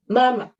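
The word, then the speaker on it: 妈妈: Dia bacanya itu cepat dan singkat. Contohnya mama, mama.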